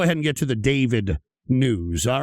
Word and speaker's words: d4vd: has turned into a recording artist uh named David uh spelled as D4 VD. That's the way you spell it.